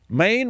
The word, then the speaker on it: Maine: Maine rhymes with Dwayne.